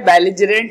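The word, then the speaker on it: belligerent: बेलिजरेंट इसका उच्चारण है, इसका अर्थ लड़ाकू है।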